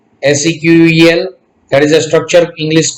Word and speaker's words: SQL: SQL को pronounce किया जाता है SQL, SEQUEL, that is a structured English query language.